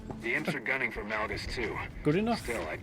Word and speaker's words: Malgus: These flashpoints consistently remind me of an Austrian guildmate who used to pronounce Malgus as Malgoose.